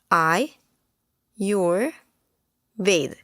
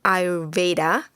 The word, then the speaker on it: Ayurveda: is the importance of Ayurvedic lifestyle I read pronounced as I your Veda some people may call it our Veda I your Veda I read is a science